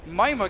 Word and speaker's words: Mimir: I'm sorry for calling him Mimir. It's actually the way you pronounce it in Swedish. But Mima came in from behind.